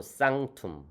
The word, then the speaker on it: sanctum: 이게 C 앞에 N은 응 발음 납니다. 이응, 응. 그래서 산크툼이 아니고 쌍툼 이렇게 되는 것이죠.